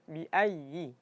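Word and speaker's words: بِأَيِّ: Jadi ya tasydid dipastikan harus ee tasydidnya itu dijelaskan. Jadi jangan sampai kita baca biayyi. Biayi jadi agak ditekan. Pertama ditekan caranya ditekan biayyi.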